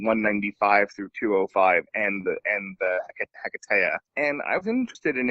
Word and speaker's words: Hiketeia: Wonder Woman Hiketeia. All right? Hiketeia. So that's just for me. You guys pronounce it whatever you want.